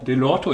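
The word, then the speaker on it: Dellorto: Delorto, ich glaube, so spricht man das aus.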